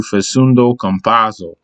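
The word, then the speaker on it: Facundo Campazzo: going to give you faceundo compasso i always got to say it like that with the accent but compasso has stepped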